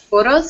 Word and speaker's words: photos: the word photos so here we want to put the stress at the very beginning of the word bottom photos photos right good good so